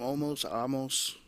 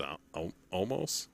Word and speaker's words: Omos: Amos. I think it's Omos.